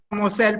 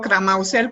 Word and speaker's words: Cramussel: Bueno, en francés se dice Cramausel, pero yo seguido digo Cramausel con doble S y ya.